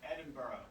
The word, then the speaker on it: Edinburgh: Edinburgh. Like, what? It's pronounced Edinburgh.